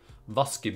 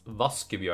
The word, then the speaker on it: Vaskebjørn: and I find that quite funny but it's pronounced voskov yarn it's not like raccoon it's not like washing bear its vas give you and that's the name of the fly it's